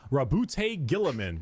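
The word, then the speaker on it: Roboute Guilliman: Rabute Gillaman.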